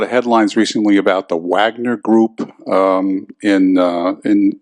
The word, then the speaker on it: Wagner: you're I apologize but I'll pronounce it the way the Russians do with a V so it's the Wagner group to them um